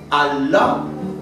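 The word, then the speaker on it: الله: Y es que en lugar de pronunciar la A, en la Bética teníamos la tendencia a pronunciar la E. Por ejemplo, Allah decíamos el. Y por eso, cuando yo he escuchado a recitadores de Corán, termina y la gente dice Allah. Aquí en Andalucía diríamos él.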